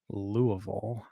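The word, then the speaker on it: Louisville: pit City what wants to know how I pronounce lville louville there you go L1 C4 the uh the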